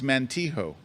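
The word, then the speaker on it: Montijo: So Philip Columbus 3054 says the accent is on the first syllable. It's Mantijo.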